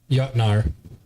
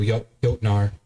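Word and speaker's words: jötnar: Even yachtnar, I got to get better at pronunciation. Well, J O with the thing is always yo, like Yodenheim. So, yotnar.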